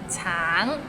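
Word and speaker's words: 橙: Tang, it means orange, but some people might find it difficult because the end has a little ng, so it's a bit of nasal sound.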